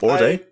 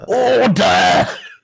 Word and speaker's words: Orde: first of all or I thought it was pronounced or or uh I I'd like to pronounce the e but I don't know you so yeah we got I think it's order order okay it's like a order the first and only male